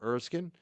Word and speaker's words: Erskine: Am I saying it right when I say Erskine, or is it Erskine? Yes. No, it's Erskine.